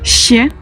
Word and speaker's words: Щ: Et nous avons le chier. Ще. Donc pour le coup, moi, la meilleure façon de le retenir, c'est de penser au verbe chier en français. C'est pas très poli, mais ça permet de bien s'en souvenir. C'est vraiment la même sonorité que chier.